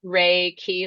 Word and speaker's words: Reiki: happy to well first of all I mean Reiki is pronounced so it's reiky like R A y- ke y it's a